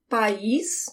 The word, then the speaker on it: país: Because if you say país with the emphasis at the end, you're saying country.